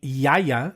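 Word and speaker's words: Gaia: so the first wine we're trying is the yaya it's spelled g a i a but the it's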